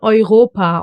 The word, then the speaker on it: Europa: E-U. And it gets pronounced as Oi. Like for example in Europa or Euro.